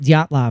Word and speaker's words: Dyatlov: We have the Dyatlov Pass. Did I Dyatlov pronounce that Pass. right? Yep, Dyatlov.